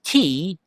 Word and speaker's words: tzitzit: The sound is different from the spelling. The spelling of it is T-Z-I-T-Z-I-T. But the Z has the pronunciation of ts. It's like T-S, ts. And so it is sounded out as tzitzit.